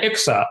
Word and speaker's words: IQSA: everybody gets the opportunity it's itzka or how do you pronounce it yeah ixa iqsa international chronic studies association awesome